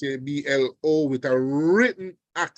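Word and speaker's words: hablo: Mar all right so both words have stress that are to be observed the first word is ablo which means I speak I'm hearing somebody's microphone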